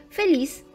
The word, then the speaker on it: feliz: este verso es feliz feliz la palabra feliz es aguda porque porque el is es la palabra sílaba perdón que se acentúa saben que no le